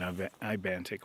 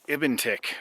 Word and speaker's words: Ibantik: others have made at Ibantic Lake and almost none of them said it right. In fact, one fellow YouTuber called it Ibentic all the way through his video. Ibentic Lake.